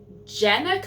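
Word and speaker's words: Jennieke: is Dangerous Alliance by, I looked up how to pronounce her name. It is Jenica, I believe, Cohen.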